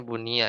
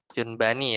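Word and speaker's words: يُبْنَى: Apa ini ya Eh harusnya Bunia ya Bunia Yun Bani ya harusnya bacanya Ya yunbani ya dibangun alaiha Min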